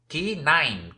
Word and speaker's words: K9: Son los conocidos como K9, aunque hay que pronunciarlo en inglés para entender este juego de letras. K9, que suena como canino.